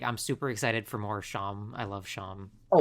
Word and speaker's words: Seam: Chris and and is it Sham or is it Seam? I always forget. It's Sham. It's Sham. spelled seam but pronounced sham in that scene.